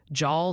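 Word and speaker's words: Jal: Jaw, New Mexico apparently rhymes with pal.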